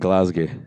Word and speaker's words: Glasgow: But we'll be in the two largest cities in Scotland, which I've been forbidden from announcing, or pronouncing, I should say. You're going to Edinburgh and Glasgow.